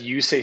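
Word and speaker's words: Juuse: That's another crazy name, Juice Saros. Is that how you pronounce that? Yeah, he's Finnish. That's Yusei Saros.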